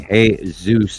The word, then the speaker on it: Jesus: different topics so and experimental is even going hey Zeus is in Ze yeah yeah experimental always aasy